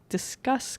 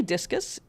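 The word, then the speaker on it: Disqus: let's talk a little bit more about disk discuss comments I had a couple of people reach out to tell me that I was mispronouncing it really looks to me like discus apparently discus should be pronounced discus so I'm gonna call it discus comments if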